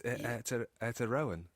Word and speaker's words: Aotearoa: But not, because it's Aotearoan. I did a bad job of saying it, I know. I tried, though. All the syllables, all the vowels, use them all.